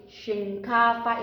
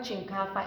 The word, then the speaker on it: shinkafa: It's not chinkafa, it's shinkafa. She, that is shinkafa, because some people used to say it that they don't know how to say it, that they are not Hausa, they say chinkafa. It's wrong. We said shinkafa. It's she. Like you want to say she is the one.